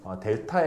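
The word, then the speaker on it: Δ: 이때 이거 길이 분의 이거 길이 B를 구해보면 요거 길이를 우리가 보통 델타 X라고 그래요. 요거를 델타 Y라고 하거든요. 삼각형이라고 적어놓고 읽기를 델타라고 읽어.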